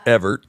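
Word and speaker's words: Evart: a little town called Evert okay e v a r t spelled wrong but it's pronounced Evert okay lovely folks it's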